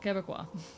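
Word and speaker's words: Québécois: Quebecois. Sorry, I'm very bad at pronouncing things.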